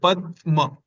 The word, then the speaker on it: Padma: In Pada, it was like a straight flow. Pada. But in Padma, we kind of paused here a bit longer. Like Padma.